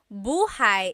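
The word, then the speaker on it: buhay: Shir said I always make a mistake with bah and so bahigh is house buhai is your life.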